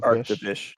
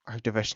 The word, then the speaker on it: Arctovish: Arctivish. Arctovish.